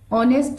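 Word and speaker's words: honest: इसमें एच ऑनेस्ट जो लिखा हुआ है जिसमें एच साइलेंट होता है, तो सेकेंड लेटर को पढ़िए तो वह जो ओ है वह आक्षर से शुरू होता है, इसको पढ़ते हैं ऑनेस्ट, जो कि हिंदी अल्फाबेट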